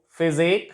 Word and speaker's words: physique: In these words, you find that UE is silent after Q, after Z, and after Q. After Q and after Z, Q, physique.